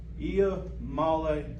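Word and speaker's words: Iamaleava: am okay all right so the the correct pronunciation is I Mala and in the years to come it's going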